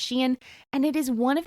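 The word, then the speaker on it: Shein: Forefront in the last couple years and it's Shen you might think it's shine um It's s he i n it's pronounced Shen and it is one of the newest and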